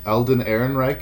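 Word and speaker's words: Alden Ehrenreich: I think it's Aaron Reich. Elden Aaron Reich is how you say his name.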